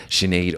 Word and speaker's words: Sinéad: Yes, I was saying it and he was like, why are you saying shh? There's no H in there.